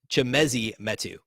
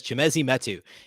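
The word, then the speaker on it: Chimezie Metu: Okay, real quick, correcting my mispronunciation. It's Chimezi Metu. I should have had that ready, and I apologize. Chimezi Metu is how you say the name of the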